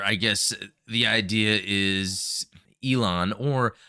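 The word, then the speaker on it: Elan: I guess the idea is Elon, or I think it's pronounced with the trill of the tongue, like Aaron, I think with the L, the R.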